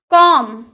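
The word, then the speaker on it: comb: कॉम, क्या आप कॉम्ब बोलते हैं? अगर आप कॉम्ब बोलते हैं यानी कि आप गलत उच्चारण कर रहे हैं, क्योंकि एम के बाद अगर बी आए तो उसका उच्चारण, बी का उच्चारण नहीं किया जाता है, तो हम इसे बोलेंगे कॉम यानी कि कंघी।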